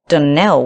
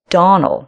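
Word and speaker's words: Donnell: not as for that danelle woman she'll get no danelling for me i can assure you the name is donal and always has been the woman is crazy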